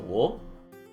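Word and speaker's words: を: out as e, or the wo will be pronounced as o.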